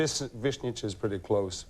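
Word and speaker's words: Višnjić: mispronounce it you know but it's it's V vnit is pretty close V what is it really in say what it would be in Croatian vnit vnit yeah that's well how what would my name be pronounced by a Croatian Coran o Brian I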